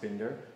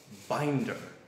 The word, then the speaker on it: Bender: fuss in der Bender is a German name and fortunately in the United States it's still bingo it's pronounced bender however it's often mispronounced binder but binder is it